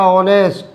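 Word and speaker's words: honest: जैसे मान लीजिए मैं एक शब्द और ले लूँ, यहाँ ऑनेस्ट ले लिया मैंने, हिंदी में उच्चारण किया ऑनेस्ट, पहला अक्षर क्या है ओ, किस में आएगा, वॉवेल में, आ से अंक तक।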